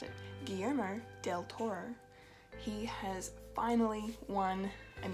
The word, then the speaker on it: Guillermo del Toro: been recognised as the awesome director he is, Guillermo del Toro. I'm going to say that again because I think I mispronounced it. Guillermo del Toro.